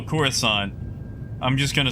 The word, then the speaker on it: Coruscant: It's Coruscant. That's how it's pronounced. Coruscant.